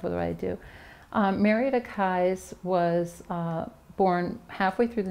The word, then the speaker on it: Kies: now you mentioned Marietta keys keys or Kai's I thought for a long time it was pronounced keys because I thought it was a German pronunciation but it the family pronounces it Kai's I actually found a